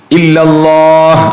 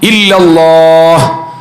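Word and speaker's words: إلا الله: ഇലാഹ ഇല്ലല്ലാഹ് അങ്ങനെയാണ് നീട്ടണം ഇല്ലല്ലാഹ് ആ അലിഫും ഹാവും വരണം നമ്മൾ മനപ്പൂർവ്വം അത് ശ്രദ്ധിച്ചു തന്നെ ചെയ്യണം അപ്പോഴേ നമുക്കത് ശരിയാക്കി എടുക്കാൻ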